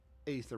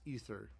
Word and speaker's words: aether: No, it's ether actually. In most people mispronounce it as aether, but it's ether most of the time.